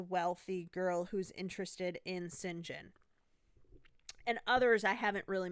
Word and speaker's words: St. John: John, but again is pronounced St. John.